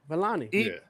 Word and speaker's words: Vellani: Vellani.